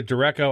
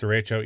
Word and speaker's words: derecho: He calls it a derecho. I think it's pronounced derecho.